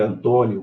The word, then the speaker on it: Antônio: Se você dividir Antônio como hiato e Júlia como hiato, você vai ver que a sílaba tônica é a terceira. Antônio, proparoxítono. E Julia, proparoxítono.